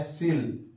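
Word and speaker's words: coel: तो एक वर्ड आएगा सीओई एल लिखते हैं कोयल पढ़ते हैं सिल व साइलेंट है इसे पढ़ेंगे सिल सिल का मतलब होता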